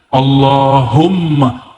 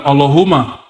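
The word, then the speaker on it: اللهم: situ ada mimnya Allahumma Gimana cara bacanya Allahumma bukan Allahuma allahum dia mesti ditasbidkan Allahumma ya dan dia harus men idgham ya ada rahasia di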